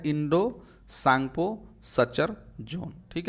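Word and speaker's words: Tsangpo: Indus सांगपो टी जो है टी टी एस से इसमें टी साइलेंट होता है इसीलिए आप कंफ्यूज मत होइएगा इंडस सांगपो इस तरह से सांग पो इस तरह लिखा जाता है तो टी जो यहां है देखिए वो साइलेंट है तो इसलिए इसका पूरा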